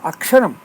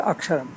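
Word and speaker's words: अक्षरम्: Let us look at this word Aksharam. A is a singular vowel, a single syllable. In Ksha, we have K, Sh, A. The two consonants K and Sh make a conjunct consonant Ksha, not complete. The vowel A makes it a syllable, Aksharam. So the three components K,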